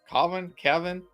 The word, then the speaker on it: Cavan: Is that how you pronounce his name? Kevin?